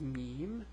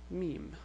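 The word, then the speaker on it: ميم: meme which is equivalent to the M it's pronounced M and the name is meme and the way you write it is like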